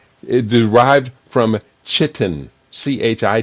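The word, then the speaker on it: chitin: A natural polymer derived from chitlin. It is not the word chitlin. L slipped in there. I saw it coming up and I said I'm not going to pronounce the L. It derived from chittin, ch hi t i n.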